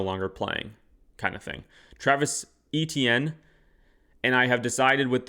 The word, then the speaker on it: Etienne: signed with the Saints saying that it's actually pronounced Achane or Et- Etienne.